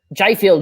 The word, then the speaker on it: Jai Field: It's spelled Jai, but it's pronounced Jay. Spoiler alert, if this gets up before Team of the Week, Jay Field is in my Team of the Week on